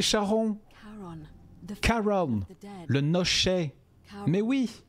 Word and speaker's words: Charon: C'est fidèle à votre description, mais votre prononciation n'est pas la bonne. Le nom que vous avez entendu n'est pas Karen. Oh, Charon! C'est Charon!